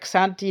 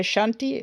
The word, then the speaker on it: Xanti: Okay, like now I pronounce that Xanti like a children's book character from my childhood, but the people themselves say Shanti or something. Uh, like the X in Basque is, as far as I